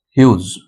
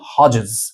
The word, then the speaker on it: Hughes: My own true family written by Ted Hughes. Okay. Uh the pronunciation is not Hodgees, it's Hughes.